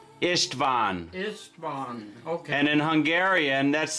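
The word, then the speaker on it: István: do you spell that i-s-t-v-a-n oh yes t v a n v a n ishtvan okay and in Hungarian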